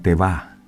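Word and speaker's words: תבה: hebreo la palabra arca significa teva, o se escribe teva, T-A-V-A, teva.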